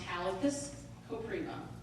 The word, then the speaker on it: Halicus Kopriva: So it's pronounced Halicus Kopriva. And once you see it as two names, it's usually a little easier to deal with.